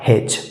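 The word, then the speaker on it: hedge: ई डी के बाद जैसा कि नियम कहता है डी के बाद जी आया है तो डी साइलेंट होगा और इसका सही उच्चारण हो जाएगा हेच हेच टीसी मैं उम्मीद करता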